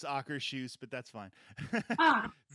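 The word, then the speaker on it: Akershus: The only time I ever ate, and it's actually pronounced Ackershoes, but that's fine.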